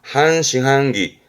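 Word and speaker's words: 半信半疑: 발음은 그래서 반투명, 한토메, 한토메. 믿을 신자에 의심의 의자. 이게 반신반이군요. 한싱한기, 한싱한기.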